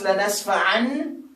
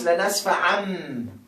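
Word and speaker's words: لَنَسْفَعًا: So you don't pronounce lanasfa'an, you pronounce lanasfa'am. Because there is ba.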